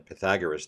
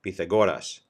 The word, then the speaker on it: Pythagoras: was none other than Pythagoras the philosopher or pronounced in Greek Pythagoras if you're a fine